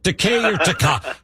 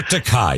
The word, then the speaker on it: Takei: the great world famous george takei you prefer decay decay or takai so let's let's let's try this okay do